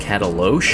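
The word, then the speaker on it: Katalox: It's spelled like this, but apparently it's pronounced cataloche.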